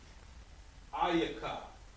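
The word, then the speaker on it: איכה: book of lamentations and to pronounce this in hebrew it's going to be ayaka ayaka right next ecclesiastes right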